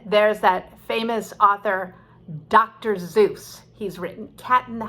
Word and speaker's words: Seuss: in my classes and we call the author dr zeus even though he originally pronounced his name as dr seuss as in german but again it was mispronounced so much that he said okay okay i'll be dr zeus because sometimes when a word is wrong for so long by so many it becomes right and that's one of them